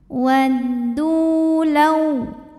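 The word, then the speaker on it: وَدُّوا: Waddu, hukumnya adalah mad tabi'i zahiri karena ada waw sukun didahului baris dhammah. Maka cara bacanya huruf dal ini kita panjangkan 2 harokat saja. Waddu law.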